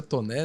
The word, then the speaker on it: Taunay: Bom, o meu é Taunay, pronuncia Toné, né?